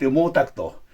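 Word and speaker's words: 毛沢東: Mao Zedong, we call it Mo Takto. So Chinese character, of course they have their own, and Japan has our own to pronounce.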